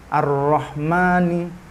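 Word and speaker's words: الرحمن: juga yang sebaliknya ahlinya Nggak ditulis tapi dibacanya panjang misalnya ar-rahmani Bismillahirrohmanirrohim gak mungkin kalian Menulis ar-rahman terus ada Alfian tapi tetep dibaca panjang nanya ar-rahmani ar-rahmani meskipun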